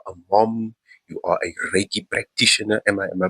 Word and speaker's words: Reiki: You are a Reiki practitioner. Am I am I pronouncing that right?